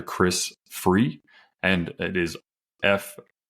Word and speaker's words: Frueh: Chris Frueh, and it is Frueh. It's pronounced free, but just if you are listening, make sure you search on Amazon with that spelling, and you're going to find it.